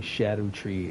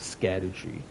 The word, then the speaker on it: Scadutree: why am I saying Shadow tree instead of scatter tree the reason being is because in Old English that is how you pronounced it uh instead of sha